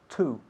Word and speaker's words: to: Solemos pronunciar la preposición to, la pronunciación correcta es to. Sin embargo, cuando estamos hablando muy, muy rápido, solemos decir t, como si fuese ta.